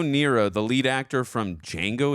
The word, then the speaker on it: Django: After being asked to spell his name, Django explains the D is silent.